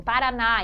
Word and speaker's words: Paraná: sílaba tônica delas então quando a Prof tem Paraná para a sílaba mais forte em Paraná em café é a última sílaba Essa é a sílaba tônica a última então eu digo que essas palavras são palavras oxítonas porque tem a última sílaba mais forte tônica agora no caso em